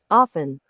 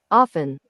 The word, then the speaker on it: often: history of language and talking about why the t is not pronounced in everyone's kneejerk reaction